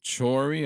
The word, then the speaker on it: Chory: Ambos hombres, Mike Chory, así se pronuncia su apellido, Sí.